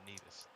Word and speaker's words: Nevis: Well, he was born in Nevis, but then he moved to St. Croix. Yeah, about that pronunciation, Doc. It's Nevis.